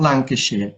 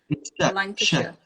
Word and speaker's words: Lancashire: Also, do you notice how when we say shire on its own, we say shire, but when you pronounce the whole word, it's like Lancashire, Nottinghamshire. Yeah, yes, Lancashire.